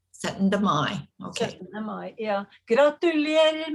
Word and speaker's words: Syttende Mai: How do you pronounce the holiday correctly? Syttende Mai. Syttende Mai.